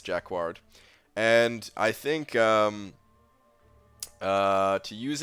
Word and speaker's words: jacquard: part in it okay it is jacquard okay all right jacquard all right well from here on out it's Jack wash that's that's number one okay I don't care how other people pronounce it it's Jack warred and I think to